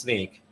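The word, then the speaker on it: Snyk: for about two or three slides about sneak sneak it's pronounced sneak um is an acronym and it's for so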